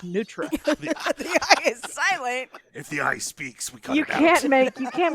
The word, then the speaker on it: nutria: an eye in it so I want to call it a nutria rat but down there they're like no the eye is silent its nutria you can't make you